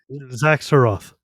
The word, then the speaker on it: Xak Tsaroth: Xak Tsaroth.